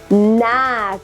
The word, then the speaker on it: knack: not means G yes Knack again you know there is silent uh K in this one what about this one